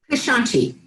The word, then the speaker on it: Keshanchi: How's that pronounced, Peggy? Keshanchi.